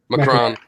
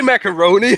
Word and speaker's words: Macron: How do you say his name? Macron. Macron. Don't say macaroni.